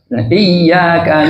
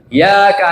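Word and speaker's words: إِيَّاكَ: ini diperhatikan tasidnya ya iyaka naudu Wa jangan baca iaka na'budu wa iaka nastain Alqur'an satu huruf saja ya bacanya tidak benar yang ada tasdidnya tidak ditasdidkan maka berubah maknanya kalau iyaka pakai tasdid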